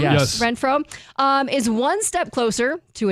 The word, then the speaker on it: Renfrow: Renfrow, is one step closer to an NFL comeback after sitting the 2024 season out.